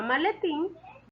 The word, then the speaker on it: maletín: Y en la palabra maletín, la sílaba tónica es tin. Es una palabra aguda, ya que la mayor fuerza de voz o su sílaba tónica es la última sílaba.